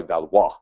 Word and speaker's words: Valois: It was basically a battle for the French throne between the kings of England and the House of probably Valois is how you pronounce that for the French throne.